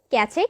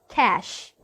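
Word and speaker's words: cache: নিচে স্ক্রিনে দেখানো হচ্ছে ক্যাচে কিংবা ক্যাচ। না, ক্যাশ। ক্যাশ। ক্যাচে কিংবা ক্যাচ নয়, ক্যাশ।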